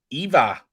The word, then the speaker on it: Eva: And Eva, that's how you pronounce it.